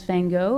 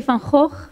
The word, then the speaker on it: Van Gogh: well here is you he's known as van Gogh I think I'm not sure if I pronounced it correctly but we say from Hawk vincent aho and if I was living in the south of the Netherlands I would say funk or so but I will I will just stick to my pronunciation and I hope that